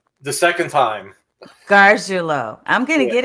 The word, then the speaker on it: Garguilo: I am super excited because I have Gargiulo. Did I Garguilo. say it right? The second time. Gargiulo.